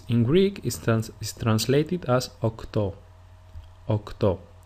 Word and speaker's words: οκτώ: Some people speak faster than others, and since it is easier to pronounce επτά and οκτώ with a phi and a chi sound respectively, speakers started to adopt